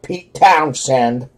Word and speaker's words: Pete Townshend: you pronounce the town said found said yeah pete townshend sorry for pronouncing it wrong the real me alright neon